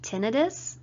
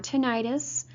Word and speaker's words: tinnitus: with the TV also a lot of people have tinnitus or tinnitus both of those pronunciations are correct by the way this is any sound